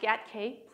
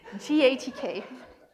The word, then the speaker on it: GATK: to talk about ghk genome analysis toolkit not pronounced get Kate please don't say yet que gives me hives gatk it's a thing it's a toolkit that is